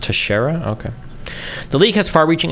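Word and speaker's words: Teixeira: South Korea and Israel I think it's pronounced Tashara okay the league has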